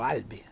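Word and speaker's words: àlbi: Ecco qui Pedrotti ci mette un accento tonico sulla a sinceramente non capisco l'utilizzo meglio l'utilità di questo di questo accento per Albi si può pronunciare solo Albi quindi non c'era bisogno ma Comunque rispettiamo quello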